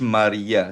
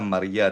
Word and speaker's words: María: Sa Spanish, Maria. Sa Tagalog yata Maria, di ba? Sa Spanish se María. pronuncia Maria.